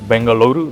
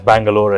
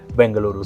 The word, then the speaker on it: Bengaluru: I love it that you mentioned multiple times Bengaluru that is the correct way to pronounce the city's name. We are known uh as Bangalore as well which is the modern English name that was given to us but the city is Bengaluru.